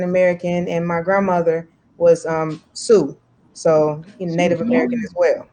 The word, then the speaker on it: Sioux: And my heritage is African American, and my grandmother was Sioux, so Native American as well. So yeah, nice. I've just learned how to pronounce a word now. I've only ever seen Sioux in writing.